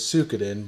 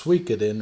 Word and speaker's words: Suikoden: Depending on where you're from, me and my brother always pronounced it as Suikoden, but it's Suikoden or some shit, right?